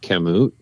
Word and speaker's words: Kamut: during the day too um I think it's pronounced kamut that wheat type snack I really like that